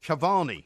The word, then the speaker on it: Cavani: and cavan of PSG no incorrect it's levandowski yeah and Cavani yeah so you got that wrong hang on no you you pronounced them wrong rubbish that is Alter